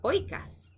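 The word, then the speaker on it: οἶκος: And then the circumflex accent mark. So oi, oi, oi, right? Up and down, oi. So oikas, ha-oikas. See, this time it's easier to say for us English speakers because the accent is on the diphthong, and I think that makes it a whole lot easier.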